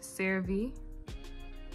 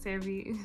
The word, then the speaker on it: CeraVe: I wash my face with CeraVe. I think that's how you say it. CeraVe.